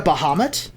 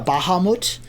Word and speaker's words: Bahamut: And then there's Bahamut, who is the platinum dragon, the god of metallic dragons and good dragons. Hopefully we get a Bahamut, or a Bahamut, depending on how you want to pronounce it.